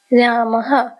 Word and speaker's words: रामः: रामः, ह उच्चारण आता है।